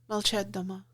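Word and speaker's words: Молчат Дома: But uh there's one band in particular called Molchat Doma from Which means be silent at home. Be silent at home. Did I pronounce that one right? Molchat Doma.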